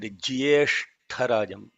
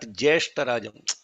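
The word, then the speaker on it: ज्येष्ठराजम्: Now, if you listen to Samarth, very beautifully he said Jyeshtarajam. Jyeshtha. It is not Jeshtarajam. Lot of people are chanting Jeshtarajam. No, it is not Jeshtarajam. It is Jyeshtarajam.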